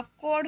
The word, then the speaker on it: could: कोड नहीं होगा, कोड होगा, कोल नहीं कोड।